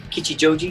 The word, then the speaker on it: Kichijoji: look forward to that great yeah yeah so kichijoji is that right yeah yeah good pronunciation i've been practicing all day so is